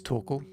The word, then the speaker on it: Torkel: I don't know if we've ever come across each other before, but my name is Torkel. Rhymes with snorkel.